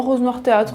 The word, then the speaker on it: Rose Noir Théâtre: s'appelle Rose Noir théâtre alors c'est peut-être même carrément prononcé à l'anglophone je ne sais pas non Rose Noir théâtre on garde le côté français euh d'ailleurs très bonne